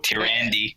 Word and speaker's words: Tyrande: Is how you pronounce her name. So Tyrande.